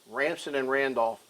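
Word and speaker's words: Ransom & Randolph: And uh I I I've said this before and I've always said the name wrong. It's Ramson and Randolph. Ramson and Randolph.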